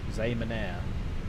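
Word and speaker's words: Xiamen: CXA Zamanire, that's how you pronounce it.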